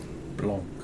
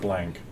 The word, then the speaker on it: Blanc: The T is silent. Do not tell your friend, but use it yourself. And it's Sauvignon. Blanc, not blank.